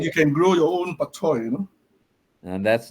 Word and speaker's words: bok choy: Its pronunciation in Cantonese, bok choy.